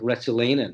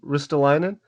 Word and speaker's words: Ristolainen: But it kind of reminds me of what they used to do with Retsulainen, if I'm pronouncing his name right.